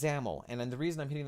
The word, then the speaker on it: XAML: who's developing for Windows you don't want to ever call it XML or Shazam alors camel and and by the way these are all names I've heard before in the course of teaching you want to make sure that you say zamel so we've got this